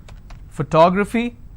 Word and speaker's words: photography: y my favorite word photography how many syllables for toe graph fee so this is my ending I will stress here photography g y technology how